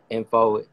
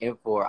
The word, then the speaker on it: En4: hear music soundcloud spotify info en4 like information but those are the